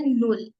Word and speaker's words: null: Like जैसे 0 को हम बोलते हैं नुल. नुल. नुल. 1 को हम प्रोनाउंस करेंगे आइंस.